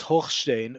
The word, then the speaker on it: Hochstein: השליח האמריקני, the American emissary, Amos Hochstein. Now, that's how we say his name in Israel. I don't follow American news in general and specifically with regards to Israel, but Amos Hochstein, who is the American